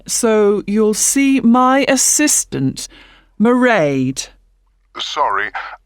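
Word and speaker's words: Mairead: be working then so you'll see my assistant merade sorry how do you spell that it's m a i r e a d meride okay got that it's not a name i'm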